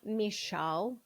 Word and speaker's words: Michal: Michal. That's how it is pronounced.